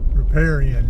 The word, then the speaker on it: riparian: Riparian areas, riparian, I believe is how that's pronounced.